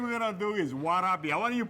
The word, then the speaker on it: warabi: the first thing we're going to do is warabi I want you to pronounce warabi all right say it again warabi Wabi that's close enough okay no it isn't what